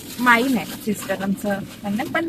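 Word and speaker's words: Main: आहे ना माझा आडनाव म्हणजे माझा आडनाव माईन आहे माईन पण त्याची स्पेलिंग आहे एम ए आय एन English मध्ये एम ए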